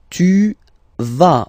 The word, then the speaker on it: vas: Tu vas, final S doesn't exist. Tu vas, tu vas, okay?